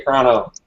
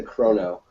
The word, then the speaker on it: Chrono: Chrono, like chronology. You say Chrono. I say maybe it's a Ohio thing. We always say Chrono.